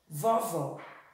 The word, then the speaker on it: vovó: Vamos ver outro? Vovó. Vovó. Vovó. Ó, o segundo vó.